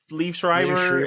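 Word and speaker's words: Liev Schreiber: yeah that is so good with what leave Leaf Schreiber and leslieber that's how you pronounce it yeah and Leslie Jones yes we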